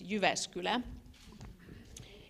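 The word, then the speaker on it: Jyväskylä: her schedule so welcome University of s : you vascular I'm already you know pronouncing it like a foreigner but it's you vascular it's a research university and one of the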